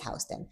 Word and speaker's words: Houston: And the street that people not from New York call Hston Street, it's Houston. It's called Houston Street. It's Hston Street. It spelled like Houston, but it's Hston.